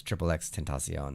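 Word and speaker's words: XXXTentacion: And then people figured out there was Triple X Tentacion.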